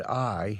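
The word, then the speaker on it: ail: every time he said I he had written a i l which means garlic in French pronounced I so that's how he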